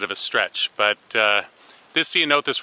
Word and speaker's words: Ceanothus: And since you can see this, you can call it Ceanothus, or see you know this. I don't know, it's a little bit of a stretch, but this Ceanothus right here is a